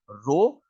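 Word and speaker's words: rho: उस कांस्टेंट को हम प्रोनाउंस कैसे करेंगे, आर एच ओ, रो।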